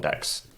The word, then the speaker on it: deque: left and right I'm just of a different DQ so a different deck I should say sorry I fall into that